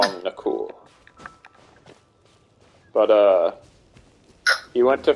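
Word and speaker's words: Nakul: spell n-a-k-u-l aw it's pronounced like the Indian pronunciation is knuckle but I call him the cool but uh he went to France for like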